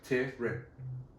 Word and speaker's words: Tyron: His name is not Tyrone Woodley. His name is Tyron Woodley, which people have been getting wrong for a long time. Tyrion. No, like Tyron.